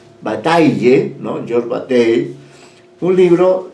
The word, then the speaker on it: Bataille: georges bate de plate se pronuncia bata bataille on your bate un